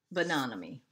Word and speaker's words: Bonanomi: And that is how you say her name, because I've taken class from her, a couple classes, and that's how she pronounces her name, Maggie Bonanomi.